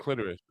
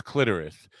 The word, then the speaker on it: clitoris: I know it's clitoris, and I always say clitoris. I don't know because it rhymes with lavoris, which you use after licking the clitoris.